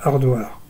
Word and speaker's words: Haridwar: euh ça s'écrit aridoir et tout le monde prononce hardardoire euh c'est quand on monte du quand on